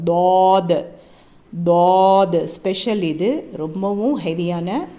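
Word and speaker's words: ض: சாத் சாத் சாத் இதை இந்த லெட்டர் என்னன்னா தமிழ்ல எப்படி ழ ஸ்பெஷலோ அந்த மாதிரி அரபிக்ல இந்த தாத் தாத் இது தேல் மாதிரி உச்சரிக்க கூடாது இது தேல் லைட் லெட்டர் இது தாத் நாக்கினுடைய இப்போ ஒரு நாக்குடைய ரெண்டு பகுதி ரெண்டு சைடு இருக்குல்ல ஓரங்கள் அது அதனுடைய மேல் பகுதியை போய் டச் பண்ணுச்சுன்னா இந்த தா தா ஆனு வரும் தாத் தாத் ஸ்பெஷல் இது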